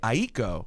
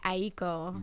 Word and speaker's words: Aiko: two syllables and then someone in my family explained to me that that is the Japanese way to say it you can say Aiko right but the what